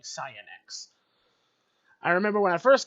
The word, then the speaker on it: Cyanex: feel like that's saying cyanex I remember when I first got this weapon I I once said Cyanide by accident because of how that's pronounced but it's cyanex it's not cyanide everyone's safe there's no